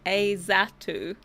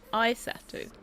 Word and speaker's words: Isatu: Azatu. Azatu. Okay, yeah, no, I pronounce it. No, Isatu. I said is. But it's I.